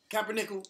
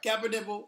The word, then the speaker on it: Kaepernick: First of all, Kaepernick. If he's your boy, you can say his name right. Kaepernick.